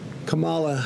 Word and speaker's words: Kamala: corrected his mispronunciation of Kamala Harris's name. So what? That's how it is, Kamala.